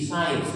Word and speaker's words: science: The word is SIENC साइंस। यहाँ पर सी साइलेंट है, छिपा हुआ है, जिसे हमें रीड करना नहीं है।